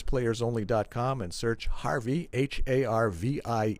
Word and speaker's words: Harvie: to for bass players only dot-com and search Harvey har VI e and your last name is spelled s that's it Harvey yes well bring